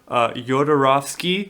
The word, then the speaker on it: Jodorowsky: So he, Dan O'Bannon, he was a screenwriter, and he was originally the sci-fi team was gotten together for Jodorowsky.